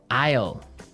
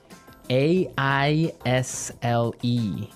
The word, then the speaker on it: aisle: We don't pronounce the S. The S is silent.